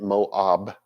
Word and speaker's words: Moab: root was from Moab you get Moab with a b instead of a v i don't know why she was neither born